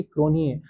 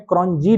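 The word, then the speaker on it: Cronje: ऐसी एक बहुत फेमस प्लेयर हुए हैं हैंसी क्रोनिए, आपने अगर उनकी स्पेलिंग देखी होगी तो उनकी स्पेलिंग में क्रॉनजी लिखा होता था, जे आता था, हम लोग क्रॉनजी लिखते थे, लेकिन पढ़ते थे उसको क्रॉनिए।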